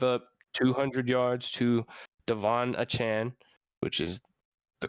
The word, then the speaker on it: Achane: We just saw them give up 200 yards to Devon Achane, which is the correct pronunciation, by the way.